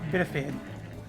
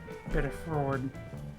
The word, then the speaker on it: Biddeford: It's called, Biddeford. Usually when I go through Biddeford on the highway, I jokingly call it Biddefed.